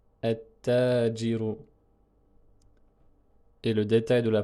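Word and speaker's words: التاجر: Avec l'article, on va prononcer at-tajiru, at-tajiru. Et le détail de la prononciation est comme ceci. Donc on supprime le lam et on dédouble le ta, tout simplement.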